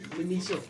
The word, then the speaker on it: Miniso: How you pronounce that name? Miniso? Miniso. Miniso. Yeah, Miniso? Miniso. Miniso, right? So doors open at 7 p.m.